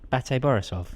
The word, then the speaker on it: BATE Borisov: How do you pronounce it, Raw? BATE Borisov.